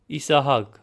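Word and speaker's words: Իսահակ: Also notice the discrepancy between the C sound whereas in Armenian we use a G sound specifically in Western Armenian.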